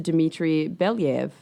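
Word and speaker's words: Dmitri Belyaev: to her co-author to Dimitri Bev is that how you said that that's right yeah yeah that's that's how you say it um and yes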